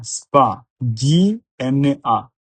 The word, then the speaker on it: Spagna: stogno, SOSO, GNO, nio, sogno, Spagna, SPA, SPA, GNA, NIA, Spagna, spegnere, SPE, SPE, GNE, NIE, RE, RE, spegnere, ogni, OGNI, ogni, ognuno, OGNUNO, ognuno.